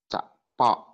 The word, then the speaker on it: cakpok: Terus jadi bacanya adalah cak cepok, cakpok, cakpok. Itu bacanya cakpok. Ya, dengan nada tinggi ya. Gitu ya aku ya. Cak. Pokoknya pendek. Pokoknya ada tinggi.